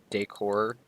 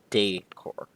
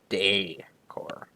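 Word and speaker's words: décor: goes from Decor to deor so oxy the little Accent on the top there goes making it from the core to day core and that's why Decor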